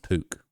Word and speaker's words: Puke: Literally nasty patty ass name. Pronounced Pook.